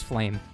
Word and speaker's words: Flame: and i've noticed um i've been saying her name wrong it actually is flame apparently i'm way too